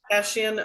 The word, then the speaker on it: Kashian: How are you pronouncing our last name? Kashian, always Kashian.